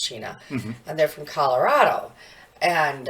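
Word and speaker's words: Cina: which is a c-i-n-a and cheap but it's pronounced China and they're from Colorado and um so they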